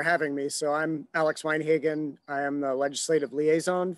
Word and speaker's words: Weinhagen: Thank you, Alex Weinhagen. Am I pronouncing that correctly?